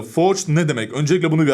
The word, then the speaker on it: forged: Şimdi her şeyden önce Forget for cutie Ya da doğru telaffuz ile Force ne demek önce bunu